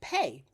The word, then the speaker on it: PAE: I also created the PAE method. And quite candidly, that is pronounced pay, the pay method.